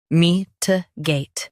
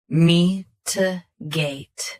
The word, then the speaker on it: mitigate: Mitigate. Both US and UK have the same pronunciation of this word. Stress gate. Keep t soft and quick. Mitigate. Mitigate. Stress gate. Keep t soft and quick.